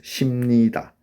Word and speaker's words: 십니다: So 십니다, 십니다, and in pronunciation we pronounce 십니다. 버 changes to 머.